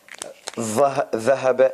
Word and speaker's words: ذهب: Of course, you will not do like that, but it's just like a drawing says that this tongue, ذهب, is a bit out, and ظهر is like